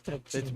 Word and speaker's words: escutcheon: It's Escutcheon. more or less pronounced escutcheon. I mean, you're supposed to put like a more a little bit of like a French twinge on it, but if you're speaking English, you would just say escutcheon.